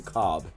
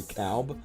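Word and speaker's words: Kalb: I think he pronounces his last name Cobb. It's K-A-L-B. I always call him Harry Calb, but I think it's Harry Cobb.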